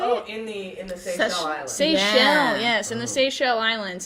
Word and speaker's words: Seychelles: Seychelles, yes, in the Seychelles Islands.